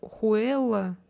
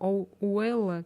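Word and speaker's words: huella: Что-то там есть типа Хуэлла, типа Хуэлла, типа там написано. Но Х не читается, но читается как Уэлла, что-то там, короче, так было.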